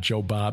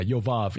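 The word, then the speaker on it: Jobab: dinhaba bella died and job or yoba not joe bob as in joe bob briggs yeah yov actually yov the son of zera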